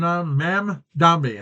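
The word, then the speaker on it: Mamdani: Mand Mam Dami. That's how you pronounce it. Mami Danny or what? M Danny.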